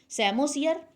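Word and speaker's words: psammosere: सैमोसियर, P silent है इसमें, अर्थात ऑन सैंड, मिट्टी पर जो शुरू होगा सक्सेशन, उसे हम सैमोसियर के नाम से जानते हैं।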